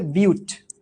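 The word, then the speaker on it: but: কিন্তু উচ্চারণ করি বাট না। উচ্চারণ করি হচ্ছে বিউট।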